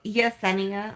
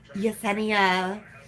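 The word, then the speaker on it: Jesenia: and she pronounced it Yesenia I got a clue I have no idea how that works like a J it's pronounced as a why but she's like Yesenia and then there was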